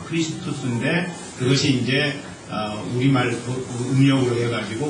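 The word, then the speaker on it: Χριστός: 그러니까 헬라어 원어의 의미로 우리가 발음을 한다면 크리스투스입니다. 크리스투스인데 그것이 이제 우리말 음력으로 해가지고 우리가 오늘날에는 그리스도라고 이야기를 하게 되죠.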